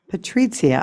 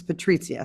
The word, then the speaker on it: Patricia: I also want to apologize to Patria I pronounced your name incorrectly which someone who my name is first and last name are often mispronounced I apologize so I have in my head now so I apologize but it's Patricia so I want to